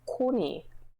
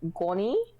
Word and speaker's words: Koni: for my name, basically in Korean my name would be Koni. That's how it's pronounced. On my name tag, he thought it said Goni, which is the tiniest difference.